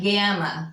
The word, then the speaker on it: gamma: Alpha, beta, and then we have gamma, which is your G. Gamma. It's always going to be hard as in God. Never a soft G. Remember I told you. No soft G sound, no J in the Greek, okay?